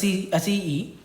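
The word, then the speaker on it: aceae: With family we have Acee, so it's pronounced as Acee.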